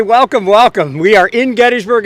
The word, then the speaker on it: Gettysburg: It's properly pronounced Gettysburg. Many of us like, including myself, the way Gettysburg sounds, and we simply say Gettysburg.